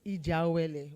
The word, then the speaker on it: IJEAWELE: MC, we need to teach you how to pronounce our name well. It's IJEAWELE.